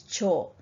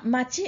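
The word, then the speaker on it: 町: Now, another pronunciation that you need to recognize is cho. You probably won't need that until year 12, okay, but you might as well learn it now. Now, machi and jo, how do you decide when to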